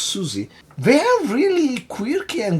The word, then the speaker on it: Siouxsie: and the Banshees because I didn't know how to pronounce their name. Apparently just Susie.